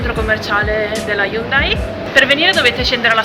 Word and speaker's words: Hyundai: Poi si passa il Conrad, che è un hotel, dopo l'hotel ci sta il centro commerciale della Hyundai. In coreano, tra l'altro, non si dice Hyundai ma si dice Hyundai.